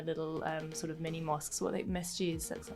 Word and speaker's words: masjid: sort of mini mosques, masjids, that's how do you pronounce it? I can't remember. Yeah, in Urdu we say masjid.